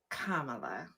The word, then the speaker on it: Kamala: It's the comma with a la. Kamala.